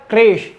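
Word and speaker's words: crèche: Next है क्रेश, ध्यान से सुनिएगा, क्रेश, इसके प्रोनाउंस होगी, काफी सारे लोग क्रेच इसे बोल देते हैं, तो इसकी सही प्रोनाउंस है क्रेश।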